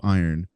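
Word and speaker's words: Eyrn: he is transported to uh the realm of iron spelled e y RN but pronounced like metal you know uh as he's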